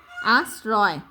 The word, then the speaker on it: আশ্রয়: র, এই যে রেফের রফলার উচ্চারণ আর রেফের উচ্চারণটা র হবে, তাহলে আশ্রয় দিয়েছেন।